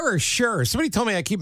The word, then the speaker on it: Sherr: Nobody knows no more about the coolest things in electronics than Ian Sherr. Sherr or Sherr? Somebody told me I keep mispronouncing your name. It's okay. Most people do. It rhymes with her, so sure.